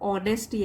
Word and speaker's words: honesty: H silent होगा इसमें और honesty ऐसे बोलेंगे.